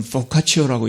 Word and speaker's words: vocatio: 그런데 이 말은요, 라틴어, 영어의 vocation에서 n자만 빼면 됩니다. 그러면 라틴어로는 vocatio라고 읽는다고 그럽니다.